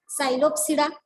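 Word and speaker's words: Psilopsida: उच्चार आपण स पासून करतोय, सायलोटम प्रोनाउन्सिएशन, पण स्पेलिंग जे आहे ती पी पासून आहे. पी सायलेंट असल्यामुळे पीचा उच्चार होत नाही. सायलोप्सिडा आणि सायलोटम.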